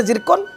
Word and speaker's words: zircon: हाँ लिखि दिंतु white जर्कन WHIT white WHIT जर्कन ZIRCON actually spelling तार जिर्कन ताको जर्कन कहा जाए जिर्कन व्हाइट जर्कन आपण